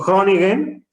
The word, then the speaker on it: Groningen: Por ejemplo, Groningen, pues digo, sé que se pronuncia así porque siempre me corregían, pero se escribe G-R-O, Groningen, ¿no?